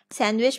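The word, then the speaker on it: sandwich: division and D word इसे सैंडविच सैंडविच में दी silent होता है ठीक है दिस इसे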